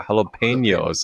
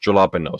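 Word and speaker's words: jalapeños: I'm like, wait, why would you pronounce a J sound like an H sound? It didn't occur to me that that wasn't an English word. It's a Spanish word, right? Right. But when I read jalapenos, it should be pronounced jalapenos because that's how it's spelled, right?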